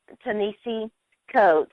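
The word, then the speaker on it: Ta-Nehisi Coates: on this show it'll never happen uh but teni coats did I pronounce that right Ben uhhuh okay he he's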